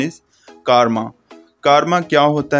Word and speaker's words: karma: Karma, असल में कुछ लोग इसको karma भी कहते हैं, but that's wrong pronunciation. The real and correct pronunciation is karma.